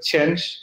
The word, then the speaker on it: Chang'e: The name, for example, if we take a Chang'e, you know, even for the writing, it looks the same like the change, you know, but in China we pronounce like Chang'e.